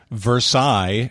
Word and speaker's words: Versailles: the french words is anytime you see that double l's followed by a few vowels it's almost always going to be a shortened cut off version you're never going to pronounce the l's okay good that's a good tip like versailles is spelled versailles yeah well just like